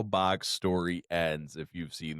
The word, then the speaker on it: Bach: How else are you supposed to fucking say his name? Everybody's like, Bach. It's like, his Like name? Johann Sebastian Bach. Bach. It's Bach.